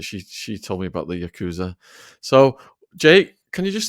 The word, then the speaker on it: Yakuza: Is it pronounced Yakuza? It is pronounced Yakuza. That is correct.